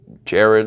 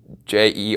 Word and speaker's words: Jared: A lot of people call it Jared, like Jerrod or Jarred, but no, it's Jared.